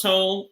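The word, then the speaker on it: TON3: if you type in uh it's tone it's pronounced tone this spell t-o-n-3 and then type in show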